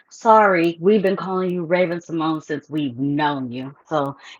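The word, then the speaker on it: Raven-Symoné: very well aware that her name is actually pronounced Raven Simone. But I'm not going to do that. We've been calling her Raven Simone.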